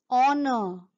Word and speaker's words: honor: Here H is silent and we pronounce it as honest. We don't say honest. We don't say hour. We don't say honor. We say honest man, an honest man, an hour, an honor.